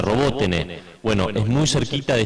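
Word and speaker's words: Роботине: sonar una localidad que se escribe robotin que se pronuncia roboten Bueno es muy cerquita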